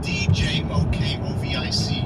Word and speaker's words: Djokovic: It's spelled D-J-O-K-O-V-I-C. And it's Djokovic.